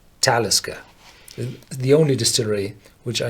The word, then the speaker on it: Talisker: the of the name so this is one of the very very few uh names in Scotland which do not have um the old gallic uh background and all the garlic names you're pronounced on the second syllable so you would say taliska but this is a Nordic name I do pronouns in the first syllable so talisca the only Distillery which